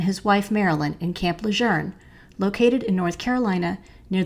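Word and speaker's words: Lejeune: Lieutenant General John Archer leer it is pronounced as if it has an r in it although there isn't one it's spelled l e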